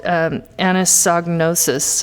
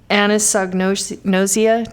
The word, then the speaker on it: anosognosia: But they have this condition called anosognosis. I have the hardest time saying it, but anosognosia. Did I say it right, Doctor?